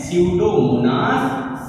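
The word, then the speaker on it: Pseudomonas: रोग जो है स्यूडोमोनास, हम इसके उच्चारण में गलती नहीं करेंगे क्योंकि इसे हम पढ़ते हैं स्यूडोमोनास सालनियरम पढ़ते हैं। ठीक है बच्चों, स्यूडोमोनास सालनियरम, इसके जीवाणु को हम लोग पढ़ते हैं। हम हमेशा कंफ्यूज हो जाते हैं क्योंकि इसकी स्पेलिंग पी से शुरू होती है, तो हम इससे कंफ्यूज हो जाते हैं।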